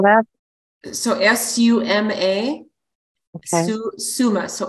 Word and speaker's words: suma: about the plant Suma Sumer root can you spell that so s-u-m-a Summa so S as in Sam Summa root Summa